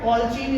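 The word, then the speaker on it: colicin: कॉल्चीन इसको बोलते हैं, प्रोनाउंसिएशन में कॉल्चीन बोलते हैं, लिखते हैं कॉलिसीन है।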